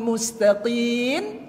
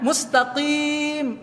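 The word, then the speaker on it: مستقيم: Ihdinas siratal mustaqim. Dibacanya nun. Padahal itu kan mim ujungnya. Mustaqim.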